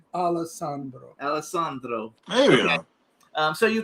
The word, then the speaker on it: Alessandro: Say it right, Alessandro.